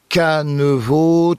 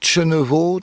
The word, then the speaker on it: Kenavo: En fait suivant les secteurs on va le prononcer de façon différente dans le centre Bretagne on entend un cheno qui est très à la mode auprès des jeunes sur la côte ici on entendra un canevo, chenevo, chenevo du côté de